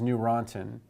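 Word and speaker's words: Neurontin: acid and gabapentin is new rantin and you can think of the any EU which is pronounced new as the newer antiepileptic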